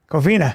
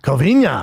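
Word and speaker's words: Covina: How do you say? Coina. Coina. Covena. Covena. Just not Covenia. Covenia. Cuz would be NIA.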